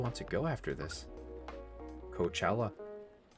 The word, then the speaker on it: Coachella: to go after this Coachella or couch Ola is how they say it okay what you're gonna